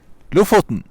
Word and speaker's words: Lofoten: He knows how to pronounce it. Lofoten.